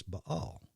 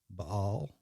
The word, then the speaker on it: Baal: And that's why in just a few chapters, you're going to see the Asherah referred to as Baal. Baal, or Baal, depending on how you want to pronounce it.